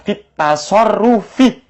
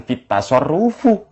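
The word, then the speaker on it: في التصرفِ: Kalau lafaz at-tasarruf kemasukan fi, bacanya fit tasarrufi, bukan fit tasarrufu.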